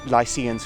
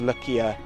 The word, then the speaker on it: Lykia: The Lucca are widely accepted to be Lycians because it's pronounced Lycia in the Greek, it's Lycia.